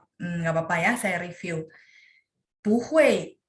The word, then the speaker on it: 不会: 不会 dia bacanya 2, 4. Karena hui 4, makanya punya dibaca 2. Itu khusus untuk pu.